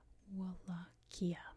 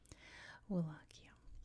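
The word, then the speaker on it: Wallachia: In the 1400s, this part of Romania was known as Wakia, which is how we say it in English. Wakia. It's definitely not how you say it in Romanian.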